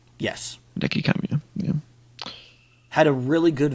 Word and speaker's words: Hideki Kamiya: How do you pronounce his name? Hideki Kamiya? Yes. Hideki Kamiya, yeah.